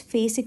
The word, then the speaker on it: phasic: So fast adapting receptor, otherwise called as phasic receptor. So remember fast and phase like rhyming together or pronounced like same, fastic or phasic or fast adapting, everything is same.